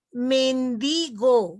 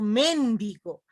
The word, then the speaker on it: mendigo: Igualmente, mendigo, no digo mendigo. Hay personas que dicen, este mendigo, no, mendigo. ¿Se dan cuenta? La sílaba tónica está en penúltimo lugar.